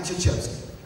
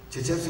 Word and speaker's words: Krzyzewski: Se escreve com uma série de consoantes de origem polonesa, não tem nenhuma vogal na história, eu não conseguiria ler se eu não tivesse ouvido o nome do cara.